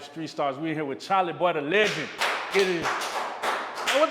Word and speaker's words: Chalie Boy: tell them where you're from my name is charlie boy c h a l i e b o